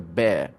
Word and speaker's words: bear: find a bear outside it's not a beer okay it's a bear sorry ma'am yeah even